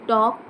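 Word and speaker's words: talk: फक्त स्पेलिंगला इडी लागतय टू टॉक टॉक टॉक टॉकिंग बोलणे एल सायलेंट आहे या स्पेलिंग मध्ये टू टॉक टू ड्रीम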